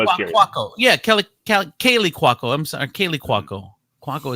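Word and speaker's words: Kaley Cuoco: Kelly Kowalko burst into tears. Is that how you pronounce that?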